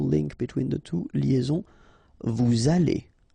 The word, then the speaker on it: vous allez: Then, vous allez. Remember, EZ at the end here will give you this E sound. Okay? Aller. And then, as previously, this little link between the two, liaison. Vous allez.